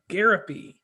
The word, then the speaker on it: Gariepy: on commonplace today I have with me garopy I actually pronounced it correctly how are you doing